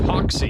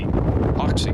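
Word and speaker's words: Hoxie: Hy is pronounced Hawky. Hawky.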